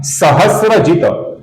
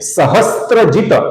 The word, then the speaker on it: सहस्रजित: आगे का नाम है सहस्रजित। यहां पर गौर से देखिए, ये स्त्री का स्त्र नहीं है, ये है स और र अर्थात स्र। इसका कुछ लोग सहस्त्रजित ऐसा गलत उच्चारण करते हैं।